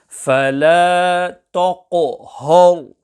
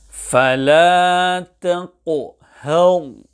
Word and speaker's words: فَلَا تَقْهَرْ: فَلَا تَقْهَرْ. As in this manner, both the ta and the ha are pronounced full mouth. The correct pronunciation is فَلَا تَقْهَرْ.